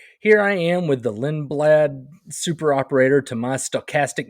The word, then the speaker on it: Lindblad: No, Lindblad. Okay. Pretty sure I'm That makes pronouncing that right.